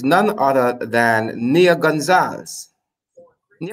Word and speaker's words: Gonzalez: none other than Nia Gonzalez ni am I pronouncing your surname correctly yes at least at least you didn't say Gonzales like the rest of the people here in this country they probably think you're